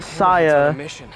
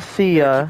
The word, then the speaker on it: Saya: Yes, it's pronounced Saya, not Sia.